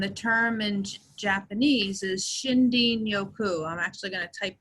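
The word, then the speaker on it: shinrin-yoku: from Japan and the term in Japanese is shinden yoku I'm actually going to type that in the chat and it's spelled if you just say it out it's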